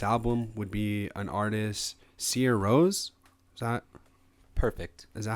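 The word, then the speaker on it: Sigur Rós: Sigurros, but it's pronounced Sia Rose.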